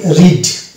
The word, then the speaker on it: read: এবং এ পাশাপাশি আছে এক্ষেত্রে আমরা এই শব্দটির উচ্চারণ কি করি রিড এই যে রিড আমরা উচ্চারণ করলাম তো এখানে আমরা দেখতে পেলাম এর উচ্চারণ আসছে না অর্থাৎ এ সারেল থাকছে তো এরকম অনেক শব্দ